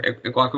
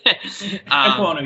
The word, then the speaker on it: Ekwonu: said, the guy at NC State, I can't pronounce his name ever, Iguaku, whatever you said. Sorry. Ekwonu, yeah. Yeah, Ekwonu, whatever the fuck.